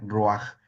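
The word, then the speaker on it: רוח: Así se pronuncia roaj.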